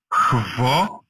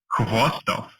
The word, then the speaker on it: Khvostov: So you say Khvostov. And again, in the end, it's also kind of something in between V and F. Khvostov. Khvostov. Khvostov.